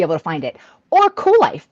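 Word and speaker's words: Kuel Life: you can Google Cool Life, but it is spelled Kuel.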